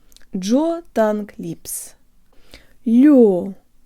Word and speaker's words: лёгкий: Just make sure your tongue is high before you start pronouncing the g or the ha sound in lёгкий. Jaw tongue lips. Лёгкий. Лёгкий.